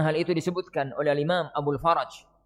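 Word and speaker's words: أبو الفرج: Sebagaimana hal itu disebutkan oleh Imam Abul Faraj. Nanti ya, roknya di fathah ya. Ojo disukun, gak karuan nanti bacanya. Roknya di fathah. Abul Faraj.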